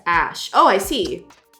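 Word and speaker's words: Æ: a child you know the a is pronounced Ash oh I see X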